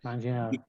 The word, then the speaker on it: Manganiello: I can't pronounce his last name. Manganiello.